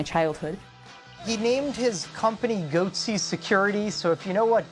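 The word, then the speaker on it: Goatse Security: getting the goatsy picture they're called goatsy security is that my pronouncing that correctly yeah that's right we're analyzing coverage from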